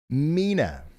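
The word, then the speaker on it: Mena: viewers are suggesting it's Mina Arkansas New Madrid Missouri and obayan County tenen keep dodging those tricky names Mina gotcha you should have spelled it m i n a then d g it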